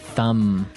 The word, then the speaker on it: thumb: So, the pronunciation here, do you say the B at the end of this word? No, I actually only pronounce the M.